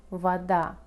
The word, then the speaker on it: вода: О без ударения мы произносим как а, например, в слове вода.